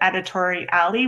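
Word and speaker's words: Editoria11y: And then these are the two modules that I mentioned for accessibility: Site Improve and Editori Alley, which is spelled at the end. It's A11Y.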